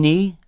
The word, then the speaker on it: ni: He is she or her, and ni, N-I, same pronunciation again, is us or we, or that can be a negative particle if the sentence is negative.